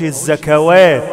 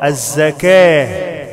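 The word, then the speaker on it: الزكاة: التاء المربوطه بحولها الهاء والواو لا تنطق ماقولش الزكوات خطا الزكاه يخافون يوما يوما يوما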